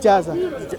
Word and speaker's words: Ijazah: How do you pronounce it? Ijazah. I-J-A-Z-A. Yes. Ijazah.